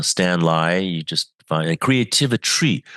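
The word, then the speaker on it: Creativitry: You just find creativity spelled with a t r y at the end. Rhymes with chemistry.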